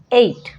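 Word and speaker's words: eight: साथ देखने को मिलेगा इसको पढ़ते हैं ए एट ठीक है यहां पर जी एच जो है साइलेंट होता है ये तो मैंने आपको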